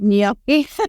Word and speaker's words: gnocchi: Gnocchi? What is that? It's spelled as GNOCCHI. It's pronounced gnocchi.